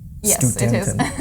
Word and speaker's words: Studenten: Yes, Studenten. it is. It's difficult, so. Studenten. Yeah, that's the specific rule that as ST at the beginning of a syllable or word is always st.